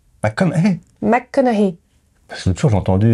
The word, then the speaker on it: McConaughey: Non, McConaughey. McConaughey. McConaughey. L'autre jour, j'ai entendu un truc, c'était fou, je te jure. Mais ça se prononce pas GH.